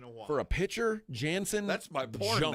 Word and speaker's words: Jansen: For a pitcher, Jansen. That's my porn Junk. name. If I were him, I would say I was Brazilian, so the J would be, the J's pronounced as an Hansen H.